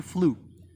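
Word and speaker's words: flew: also used to pronounce second form of fly as flu and that's wrong it should be flu like blue blue blue blue and flu blue right now we're done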